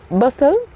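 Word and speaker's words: bustle: हमारा अगला शब्द है बस बसल टी यहां पे साइलेंट होगा बसल बसल बसल बी यू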